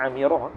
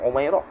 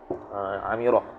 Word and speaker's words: Amirah: Bacanya Amirah, bukan Umairah. Amirah.